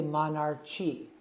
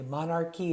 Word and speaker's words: monarchy: and in ch however in this example the CH sounds like a CK so remember that don't say monarchi Okay monarchy is the correct pronunciation